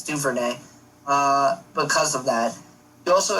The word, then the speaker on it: Duvernay: I believe that's how you pronounce it. It's Duvernay.